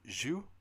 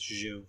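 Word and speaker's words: Xu: turns out to be, is it pronounced Zhu? X-U? Zhu? Yeah, something like that. I think it's Zhu.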